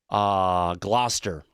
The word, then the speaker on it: Gloucester: Gloucester. Thank you, Andy, for my pronunciation on that.